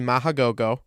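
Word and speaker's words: Mach GoGoGo: Racer was originally Mahagogo, Mahagogo. Machagogo, and online it said it had 3 goes, but I've heard it pronounced 2 goes.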